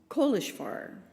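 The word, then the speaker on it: Kolozsvár: Again, a name that seemed difficult to pronounce, Kohishvar. He explained that this is the Hungarian name for the city.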